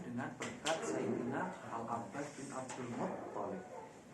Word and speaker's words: Abdul Muttalib: Mahmud Abu Royah menyerang hadis istisqa, meminta hujan dengan berkat Sayyidina Al-Abbas bin Abdul Muttalib. Abdul Muttalib, bukan Abdul Muttalib. Abdul Muttalib, bukan Abdul Muttalib. Tasdidnya jangan kebalik-balik.